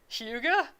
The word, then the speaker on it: hygge: But I think I got the one that it's spelled like HYGGE, and I think she said how it's pronounced. It's like Huga, and I think she